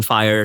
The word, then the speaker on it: 5ire: IR right um um so you pronounce it fire though but so fifth Industrial